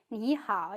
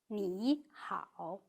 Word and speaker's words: 你好: When two third tones are read in sequence, the first syllable turns into the second tone. So is read rather than .